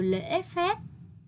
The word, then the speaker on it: lễ phép: Từ mà các con dễ đọc sai là từ lễ phép. Hãy đọc đúng thanh ngã ở tiếng lễ. Chú ý đọc kết thúc tiếng phép, môi khép kín.